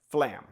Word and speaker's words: flam: It's two syllables, flam, and we're going to make those with two strokes. The f is going to be a soft stroke. Okay, flam. Lam is going to be the loud stroke.